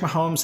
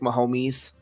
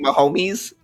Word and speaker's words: Mahomes: try to minimize patrick mahomes yeah pronounce this obviously kept saying my homies they always have a